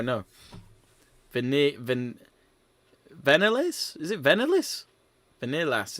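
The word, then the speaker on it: Viñales: Vanilas. It just sounds like Vanillas to me.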